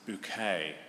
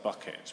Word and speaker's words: Bucket: This is Hyacinth Bouquet. It's spelt bucket, but she pronounces it bouquet, because she's got pretensions to be, sort of upper middle class, but she really isn't.